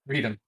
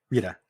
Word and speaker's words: Rita: also feel like I'm saying your name wrong Rita yeah R Rita Rita you know like um Margarita repulsa guy from Power